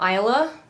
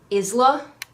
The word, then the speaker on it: Isla: let's get in also I will be pronouncing her name Isla rather than Isla because it spells Isla if she was a